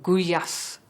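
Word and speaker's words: gulyás: who were called gulyas kuya's they don't pronounce the L what a pest food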